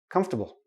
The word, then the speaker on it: comfortable: a small tiny tiny little I in there comfortable come stop bull okay we don't pronounce the or comfortable nope don't do that